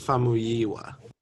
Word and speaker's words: Famuyiwa: It's Famuyiwa.